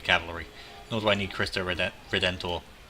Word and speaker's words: Cristo Redentor: Nor do I need Cristo Redentor. Which I always fail to pronounce. I always forget the N.